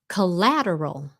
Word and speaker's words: collateral: Collateral. Collateral. Leyna nghĩ nhiều người Việt gặp cái khó khăn nơi cái stress, ok? Là khi mình nói, mình lên xuống cái intonation. Collateral. Chứ không phải là co.